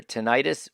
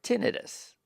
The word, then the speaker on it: tinnitus: head is called tinnitus pronounced either tinnitus or tinnitus in some people it